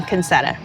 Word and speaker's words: Concetta: You are Concetta, the Spice Queen. Yes, so you're saying it correctly. Yeah. However, I am from Texas, and so I say my name Concetta.